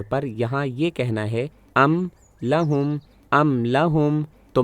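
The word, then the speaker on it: أَمْ لَهُمْ: یہاں یہ کہنا ہے ام لہم، تو میرے دونوں ہونٹ ایسے ہی اکٹھے ہو گئے میم کو واضح ادا کرنے کے لیے ام لہم۔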